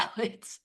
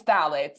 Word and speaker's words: phthalates: the P is silent in this one.